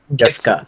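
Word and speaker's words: Giffca: How do you pronounce his name? Gifka.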